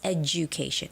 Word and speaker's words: education: Okay, the word education is more like a j j j sound.